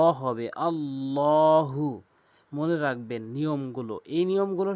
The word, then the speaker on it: আল্লাহ: আল্লাহু অধিকাংশ লোক আল্লাহু বলে আল্লাহু বলা যাবে না। আল্লাহু এখানে নিয়ম রয়েছে আল্লাহ শব্দের ডান পাশে যদি জবর দেখেন অথবা পেশ দেখেন তাহলে ল হবে।